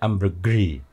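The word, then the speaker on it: ambergris: Gimana bacanya itu misalnya kayak Amber Gris itu kan bacanya Amber Grey Amber gre tah tapi kalau ee Amber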